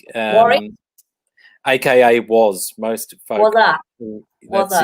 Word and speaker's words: Warwick: It's silent W in the middle, so Warwick. Warwick.